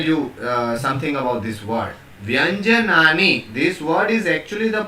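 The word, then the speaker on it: व्यञ्जनानि: I'll speak and you please try to pronounce as I am speaking. Vyanjanani. I repeat, Vyanjanani. Right. Let me tell you something about this word. Vyanjanani.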